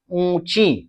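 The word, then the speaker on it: ऊँची: आप देख रहे हैं ऊंची जो शब्द है ऊ के ऊपर यहां पर चंद्रबिंदु है और इस चंद्रबिंदु का जो उच्चारण है नाक और मुंह दोनों से होता है। इसलिए हम पढ़ते हैं इसे ऊंची।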